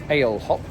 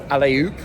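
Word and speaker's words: Alehop: I keep seeing these, what we would pronounce as ale hop, like ginger ale or, ale. It's the 5th day of Sober October. It actually, I think it's more like alley-oop, like jump.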